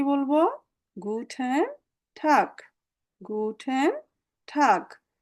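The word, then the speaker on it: Guten Tag: গুটেন টাগ, গুটেন টাগ। এটাতে আমাদের কোনো আর্টিফিশিয়াল কিছু নাই, একদম ইংরেজিতে যেভাবে পড়েন ওইভাবে, গুটেন টাগ।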